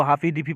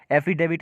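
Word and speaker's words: affidavit: आप लोग गए हैं कोर्ट में, कोई इसको हाफी डिफी पढ़ता है, एफिडेविट इसका सही उच्चारण है।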